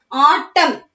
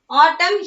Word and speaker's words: autumn: Autumn. Autumn here the N is silent. Okay, so we pronounce the word as autumn.